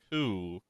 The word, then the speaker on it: coup: From what I remember, there was some sort of coup several decades ago. Coup. Coup rhymes with clue.